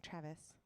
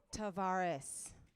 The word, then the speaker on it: Tavares: We have Halford, Juniper, Travis. I'm saying it wrong. Travis. Nope. How do I say it? Tavares. Thank you.